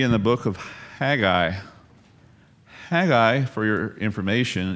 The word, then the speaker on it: Haggai: Haggai, for your information, is not pronounced like that. It's minus an H, actually. Their H was silent, depending on where you find it in the word, and often when it's the beginning of the word. And so pronounce Haggai without the H, and what does it sound like? Sounds like an Aggie, right?